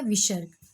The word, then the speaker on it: विसर्ग: अब दूसरा है विसर्ग। विसर्ग का चिन्ह आपको पता है, ह के समान इसका हम उच्चारण करते हैं। जिसे अयोगवा ध्वनि का उच्चारण ह के समान किया जाता है उसे विसर्ग कहते हैं।